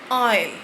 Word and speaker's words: aisle: First word is your aisle. Aisle. Spelling is your AISLE.